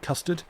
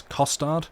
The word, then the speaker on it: costard: I was going to say, it wasn't custard. It was costard, which I tried to enunciate. It is a different word.